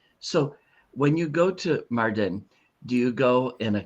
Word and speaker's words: Mardin: Now, at one time you told me you were going to, and I have to remember how to say it, Mardin or Marcin? Yes, Mardin.